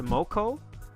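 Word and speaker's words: Mokou: And let me just reiterate, I believe her name is pronounced Moko, but that means snot in Spanish, and it's very unappealing to say. So I've always read her name as Mokuo. I know it's M-O-K-O-U, but I read it as M-O-K-U-O.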